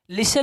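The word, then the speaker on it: listen: ऑफ्टन नहीं क्या ऑफन, लिसन नहीं, लिस्टन नहीं, लिसन, लिसन, सॉफ्टन नहीं, सॉफन, सॉफन, हेस्टन नहीं, हैसन, हैसन, क्योंकि टी क्या है, साइलेंट, क्योंकि लास्ट में 10 आया है।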